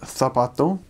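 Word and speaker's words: zapato: But it means whenever there's a C or a Z letter and the C makes a S sound, then you pronounce it kind of as we would in English the almost. So an example is um heart is korathon, shoe is tapato and there's a phrase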